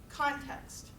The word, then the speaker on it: context: the first one is context context context context where do you think the stress is for them first syllable that's good but then we put